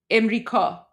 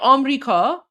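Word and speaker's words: آمریکا: وظیفه It's not I think it's more like im. It's like so we pronounce it like this. Im Ka. That's probably like Emrika. Some say Amrika, so some say Amrika, some say Emrika, but that's how it is. So we have one less syllable than you.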